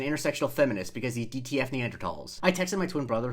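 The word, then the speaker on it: Neanderthal: feminist because he DTF Neanderls." I texted my twin brother who is an anthropology major in college to confirm that Neanderl is pronounced with a silent H.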